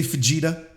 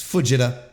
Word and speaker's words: Fujita: number one sweet boy Jose fajita Fujita I gotta get that pronunciation down better Fujita I have to stop pretending that that it's Fuji Fujita it's Fujita what are we doing they're